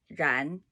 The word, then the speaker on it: 然: 然 It's a very difficult sound to make. Plus, you cannot smear the syllable. 安 ran. You see that? You swallow the middle. There's no middle. It's 安 ran. It's the most disappointing sandwich. 安 ran. Two sides, nothing in the middle.